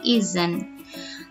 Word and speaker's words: isn't: Jadi ketika dia negatif muncul huruf Z dalam pengucapannya ya, jadi isn't.